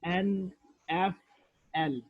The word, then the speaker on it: NFL: But for initialism, we pronounce each letter like NFL, National Football League. For example, it's pronounced as NFL.